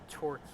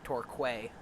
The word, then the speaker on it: Torquay: on our way into torquay here which for the longest time i thought was pronounced torquay i was pronouncing it phonetically uh and torquay many